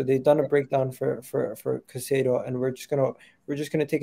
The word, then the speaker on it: Caicedo: How do you pronounce his name? Is it Caicedo? Caicedo.